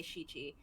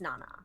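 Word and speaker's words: 七: You actually wouldn't say Shichi, it's Nana. Yeah, And I'm like, what the fuck is my life and numbers?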